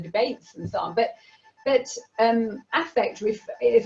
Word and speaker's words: affect: I'm asking, because when I read the book, I was thinking affect, and then I saw it should be the stress is on the first syllable, affect.